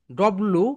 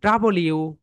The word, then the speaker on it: W: ওকে, এরপরে ভিড় পরে যেটা রয়েছে এটাকে আমরা সবাই বলি ডব্লু, কিন্তু রাইট প্রোনাউন্সিয়েশন বলো ডাবলিউ, ডাবলিউ।